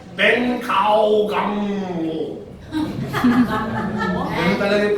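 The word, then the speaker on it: 本草纲目: Or, sa Chinese, ang pronunciation niya ito, Ben Kao Gang Mo.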